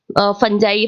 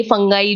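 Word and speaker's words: fungi: आपकी मोल्ड, यानी आपकी जो फंजाइज होती है, फंजाई, फंगाई, जो भी आप लोग बोलते हो, कई सारे प्रोनाउंसिएशन है इसके, वो जो होते हैं वो आपके एफ्लाटॉक्सिन्स प्रोड्यूस करते हैं।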